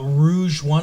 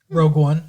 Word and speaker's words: Rogue One: Gareth Edwards directed uh, Rouge one, I believe it's pronounced, a Star Wars story, Rogue One.